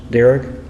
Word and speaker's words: Darragh: uh mutual versus uh derek is that how it's pronounced derrick yeah okay dara uh both sides will